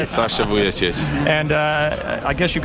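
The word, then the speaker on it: Vujačić: it on how do you say it Sasha vuic and uh I guess you've got a relationship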